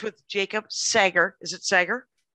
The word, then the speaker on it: Sager: Is it Sager? It's Sager. It's the world's weirdest name to pronounce, yes.